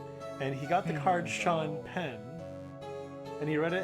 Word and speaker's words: Sean: Scene Dingling. John. Yeah, Dingling. See. Yeah. Okay, I'm not going to fault him for pronouncing it that way, but it is Okay, pronounced Sean.